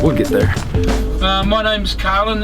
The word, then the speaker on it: Carlin: My name's Carlin. It's like a car with a lin on the end.